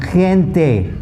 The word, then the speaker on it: gente: But if a G is followed by an E, the sound completely changes again, just like the C. So GE is pronounced ge, as in gente.